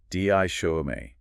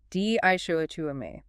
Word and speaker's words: dichotomy: Di show. Four syllables. stress on the second dishu.